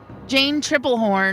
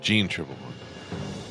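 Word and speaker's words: Jeanne Tripplehorn: Jane Triplehorn. Basic instinct. Mikea. Jean Triplehorn.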